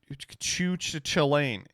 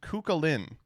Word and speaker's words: Chulane: I regret to inform you that is not how you pronounce Chulane. It's Kukalin.